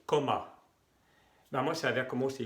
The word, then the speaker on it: comment: Y el otro se escribe y se pronuncia coma. Todavía son dos M y al final la E, la N y la T se pronuncia en, coma.